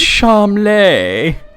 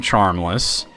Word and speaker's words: Charmles: prince charmeles yeah it's pronounced charm lay which is funny because his dad chowder it's funny like that the party calls him charmless and most of the